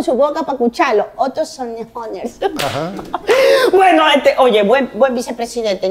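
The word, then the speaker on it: Sonnenholzner: Sonnehorner se pronuncia.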